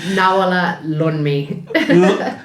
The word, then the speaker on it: Nawoola Loonmi: Well, you're joined on this edition of 1+1 with Nawoola Loonmi, Selena Davy Youri. I'm sorry if I butchered your name. Nawoola Loonmi.